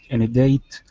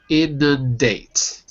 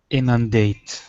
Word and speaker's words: inundate: parties of the Town say say it like this inate inate in in in you're missing one of the ends though in inundate none none inundate that's it very good in other words it